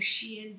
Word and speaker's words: Xi'an: with the star system of pyramids outside of Xi'an, China. It's spelled X I A N.